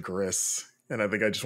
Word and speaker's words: Gris: because it is um it's the Spanish pronunciation because the studio is based in Barcelona more I just sounds